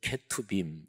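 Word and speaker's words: כתובים: 이런 것들이 쭉 들어가요이 세계 덩어리를 히브리어로 이렇게 발음합니다 율법서는 토라 이거는 많이 좀 들어보셨죠 그래도 그 다음에 두 번째 예언서는 네비 그리고 세 번째 성문서는 케토빔 이렇게 발음합니다 근데 유대인들은 또 실제적으로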